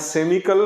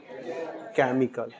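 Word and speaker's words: chemical: पढ़ेंगे क्रम यहां कैस्मा यहां केमिकल भाई केमिकल नहीं पढ़िए इसको या सेमिकल नहीं पढ़ना क्या पढ़ना है इसको केमिकल केमिकल कुछ वर्ड होता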